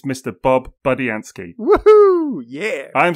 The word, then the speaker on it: Budiansky: Bob Budiansky.